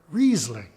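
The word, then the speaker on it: Riesling: the vineyard name Morin the IE combination is pronounced e as in the very important word reasing if you put these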